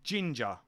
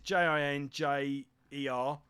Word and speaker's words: Jinjer: She's in a band called Ginger. I think that's how you pronounce it. It's Jinjer.